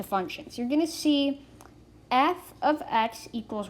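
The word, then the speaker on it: f(x): We pronounce it f of x, not f times x, not f parentheses x.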